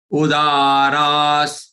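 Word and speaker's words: उदाराः: Udaras, udara, both u is short and da and ra, both of them are long one. The visarg has to pronounce as hapsa.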